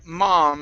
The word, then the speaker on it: mom: Let's go to the word mom. Instead of mom, it's an ah sound.